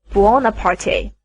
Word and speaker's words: Buonaparte: alone sometimes said napoleon all the others said bonaparte angelos pronounced it buonaparte marius was vaguely surprised